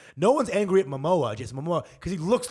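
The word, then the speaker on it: Momoa: __ ] my girl Mamoa rhymes with Samoa boom right and she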